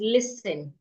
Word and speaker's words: listen: So examples of such words, the first word here I have is listen. I have a PDF that contains silent words, words that have silent letters from A to Z, words that have